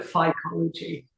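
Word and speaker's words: phycology: It says fcology. F we call it fology. Fology. I'm the Greek for fukos. through cost right psychology is what we say.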